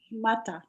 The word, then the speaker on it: shmata: I saw a quote there one day that they treated us like schmatza. And how's it pronounced? Shmata. Shmata.